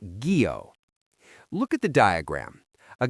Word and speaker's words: guyot: This brings us to the story of the guyot, pronounced gee-oh.